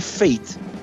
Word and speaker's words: F8: E é um trocadilho também, porque Fate, né, F8, né, eles falam que o disco se pronuncia Fate, destino, que é F8, né, Fate.